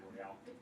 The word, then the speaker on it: Battle Royale: Chapter 1 then is referred to as the Battle Royale or Battle Royal, depending how you say it. I say Royale.